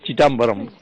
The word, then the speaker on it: Chidambaram: Well, first of all, I appreciate the pronunciation of Chidambaram as Chidambaram.